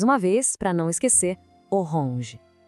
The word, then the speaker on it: orange: A escrita é idêntica, mas a pronúncia tem aquele charme francês. Oronge. Tenta sentir o som saindo um pouquinho pelo nariz no final. Oronge.